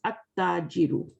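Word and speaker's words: التاجر: But when we say At-Tajiru, we put Alif, Lam, definite article on it, then we have to use this one. Okay, now we will skip the Lam, and we will read like this, At-Tajiru, right?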